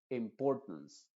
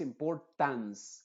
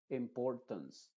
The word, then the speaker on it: importance: no se pronuncia pero esa a se está pronunciando como una shua diríamos importance no es importance con una a muy abierta sino con una a muy cerrada que es una sha importance tons tons tons es